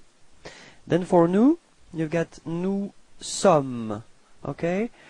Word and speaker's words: nous sommes: Then for nous, you've got nous sommes. Okay, final S is not pronounced.